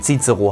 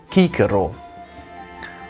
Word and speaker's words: Cicero: Das C im Lateinischen wird immer wie ein K ausgesprochen, niemals wie C im Deutschen. Also die Lateiner haben nicht gesagt, dass dieser Mann Cicero heißt, sondern er hieß Cicero.